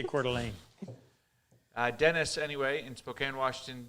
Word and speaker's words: Coeur d'Alene: Looks French to me. It is, but they say Coeur d'Alene.